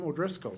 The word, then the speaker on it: O'Driscoll: Joining us for the first time from District 13B, Sartell, Representative O'Driscoll. am I pronouncing your name correctly? You are right on, Judge.